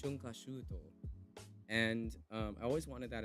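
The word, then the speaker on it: 春夏秋冬: Haru, Natsu, Aki, Fuyu, all put together, smashed together, and the word together is pronounced shunkashuto.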